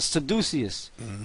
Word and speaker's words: caduceus: Alright, and you also got the symbol of the caduceus or the seduceus. Alright, some people pronounce it, different.